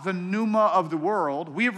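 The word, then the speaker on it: πνεῦμα: that's the word here this the Greek word Numa through the Numa for the spirit how do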